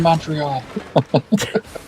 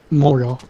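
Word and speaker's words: Montréal: it's all good yeah I don't want to be in Montreal but you got to say it right moreal oh yeah hey leave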